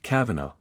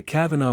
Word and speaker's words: Cavanaugh: A man named Kavanaugh, pronounced the same as Judge Kavanaugh, was the star ATF negotiator early on.